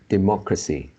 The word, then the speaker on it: democracy: uh it is like democracy remote classic democracy democracy yeah so the stress is on the second syllable mock democracy democracy and